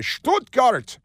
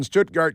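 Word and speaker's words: Stuttgart: going to say keev you got to say stutgart because that's how they pronounce it there and they're always yelling why are they always yelling so it's being performed in stutgart Germany for the first time in a 100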